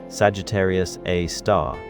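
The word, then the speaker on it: Sagittarius A*: ah which is pronounced Sagittarius A star and it is about 4 million times more massive than our sun.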